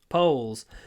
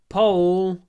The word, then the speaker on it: pole: are also called poles poles when you pronounce this word just just remember pole rhymes with bowl and it has a